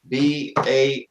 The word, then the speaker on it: Baoding: Baoding.